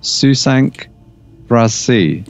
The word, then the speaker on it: Sous cinq brassées: So on DriveThru, there is, and I hope I'm not going to mess up the pronunciation, Susank Brassi.